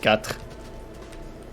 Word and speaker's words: quatre: Like cuatro, spelled like cuatro in Spanish, but an E instead of an O. And pronounced like you're gonna throw up. A lot of stuff in French is pronounced like you're about to throw up.